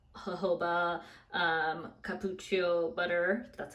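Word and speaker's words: cupuaçu: It has fragrance, but it also has some hydrating things like jojoba, cappuccio butter, that's how you pronounce it, glycerin.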